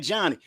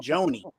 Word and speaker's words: Johni: If you want to see some John, I keep on saying Johnny. On TV, they're saying Joni, and it's spelled Johni. Sound like Johnny to me, but we'll go with Joni if that's what he wants to be called.